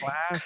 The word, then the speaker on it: classes: Classes. Classes. An extra syllable.